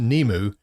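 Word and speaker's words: Nimue: in here oh um nemu it's n-i-m-u-e but it's pronounced nemu and she is the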